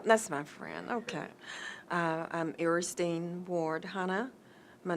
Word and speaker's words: Eristine: my friend ok I'm aristine Ward hunna my name is spelled EA R is tean not Ernestine but eresting ok I am a